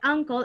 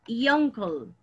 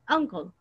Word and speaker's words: uncle: Pero sí, pero en este caso de uncle, es aquí no decimos yonkle, right? Yonkle, no decimos así, sino que decimos uncle.